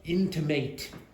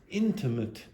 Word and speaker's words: intimate: intimate lighting okay and just be careful it is not intimate it's intimate intimate okay so again do